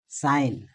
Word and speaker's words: sign: তো এখানে আর বাঙ্গা যায় না, SIGN উচ্চারণ হবে সাইন, জিটা উজ্জ থাকবে, এটা হবে সাইন।